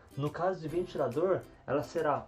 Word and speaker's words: ventilador: para comprar um ventilador então tem ventilador a sílaba tônica é a última sílaba a sílaba dor e sobremesa nós temos